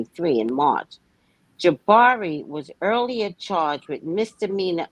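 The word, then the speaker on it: Jabbari: On March 25th, Grace Jabari, which is her name, everybody say her name. Stop Great saying Shibari.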